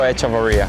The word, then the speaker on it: Echavarria: Nico Echavarria.